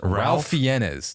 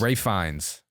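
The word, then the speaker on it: Ralph Fiennes: he not yeah I've I've said for years Ralph fenes that is not how you say his name it's rayin it's Rines so how many silent letters are in his name exactly that's why [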